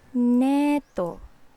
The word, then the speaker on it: neto: So nito, neto, neto.